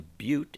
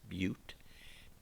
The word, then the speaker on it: but: three is prop a butte is four and that's a long u it's not but it's butte pint five hex six